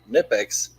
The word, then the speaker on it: Knipex: The K is silent before a knife. I'm American, so that's how I read it. Mm-hmm. Right. And KIN in knife is nigh, just like KIN in Nipex.